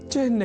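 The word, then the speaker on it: चिह्न: यहां हमने चिन्ह के उच्चारण और लेखन पर दिया है विशेष अवधान। अर्थात चिन्ह में अर्ध हकार के बाद न इस अक्षर का संयोग होता है।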